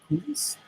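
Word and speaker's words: Ikú: On the other hand, there are Ikuis, that's how you pronounce that, or the dead, who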